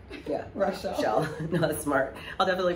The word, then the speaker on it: Rachelle: Just so people pronounce my name right. Yeah. Rachelle.